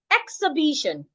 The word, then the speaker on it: exhibition: Exhibition. Exhibition. B is the primary stress, the most important stress. It should be the loudest, the longest, and the clearest.